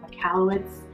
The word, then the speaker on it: Michalowicz: I think it's by Mike Michalowicz, that's how you say his name, but I'll have a link in the description below.